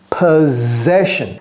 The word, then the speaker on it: possession: que exe la possessionok possession ce mot com bien même c'est de s ça se prononce Z Z ici possession US possession sent à